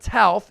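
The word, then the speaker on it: Toth: He started at center, and Brett Tauth, yes, that's the proper pronunciation, we've been saying it wrong this whole time, started at left guard.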